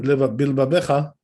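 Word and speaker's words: בלבבך: So according to Rambam, that second bet, which is in bilvavecha, it should not be pronounced, according to Rambam.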